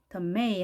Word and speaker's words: tomato: 자, tomato 하는 것은 아메리칸 스타일이고요. 두 번째, tomato 이렇게 R 발음을 하는 경우는 영국식 발음인데요. 두 가지 다 가능하겠죠? tomato.